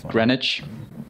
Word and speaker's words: Greenwich: certain time GMT which is you know what Greenwich Greenwich Mean Time yeah yeah well let you think it's pronounced that way it's adorable it's empty mount agree Greenwich Greenwich actually pronounced Greenwich Greenwich okay don't get me started on names in